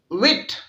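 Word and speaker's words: Tsvet: अब जी इसके बाद सबसे पहले 19वीं सदी में एमएस विट, ये टी इसमें साइलेंट है, विट रशियन साइंटिस्ट है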